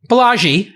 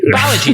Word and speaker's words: Balaji: Listen, Greek names are hard to pronounce. I mean, Indian names, It's fine. Balaji Sri Lankan Srinivasan. names. Balaji. Everybody gets that right. Balaji. Balaji.